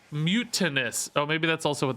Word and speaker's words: Mutanus: manage pole your results mutanus pronunciation mute a noose mute anes mutanus so you guys say it like i do mutantus maybe that's because you watch me i think a lot of people say mutinous oh maybe that's also